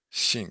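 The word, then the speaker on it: 性: say that uh aoto shink shink kind of like sink right Shing yeah yeah so it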